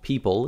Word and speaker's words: Ppyple: this is from a company called people even though it's spelled ppy p available on Amazon that's